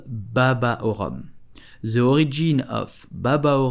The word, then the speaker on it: baba au rhum: I don't know, but the correct pronunciation is baba au rhum. Baba au rhum. So, to pronounce rhum correctly, you will pronounce the H and the U like a O.